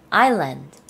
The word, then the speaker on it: island: 여태까지 아이슬랜드라고 발음했던 전 창피합니다. 이제부터 바꾸시면 되죠? Island.